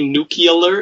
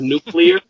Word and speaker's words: nuclear: the wrong way when people say new Keeler instead of nuclear yeah I'll say say